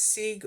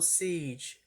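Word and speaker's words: Sige: Oh, pronounced Sig or Siege.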